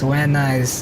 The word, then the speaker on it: Van Nuys: Yeah, that's Van Nuys is what they pronounce it here.